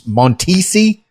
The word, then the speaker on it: Montisi: Nashville after that that's the na Nashville meets montisi is that it is that how you pronounced it oh fantastic yeah it is you